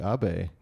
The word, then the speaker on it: Abe: Yeah, So welcome to the show, Abe.